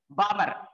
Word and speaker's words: Balmer: Here L is silent, Balmer.